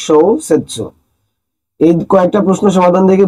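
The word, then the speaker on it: 小説: এর মধ্যে একটা ভালো ওয়ার্ড আছে, সেটা হচ্ছে শোসেৎসু, যার মানে উপন্যাস। তার মানে আমরা বুঝতেছি এই কাঞ্জিটার উচ্চারণ হচ্ছে শোসেৎসু।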